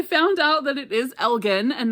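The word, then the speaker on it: Elgin: is Elgen and not Elgen. Um so I will try to change my pronunciation there. Like I said, I am familiar with this town in Oregon called Elgen. Spelled the same but pronounced differently.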